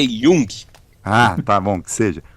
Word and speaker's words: Jung: Ó, a pronúncia é Jung.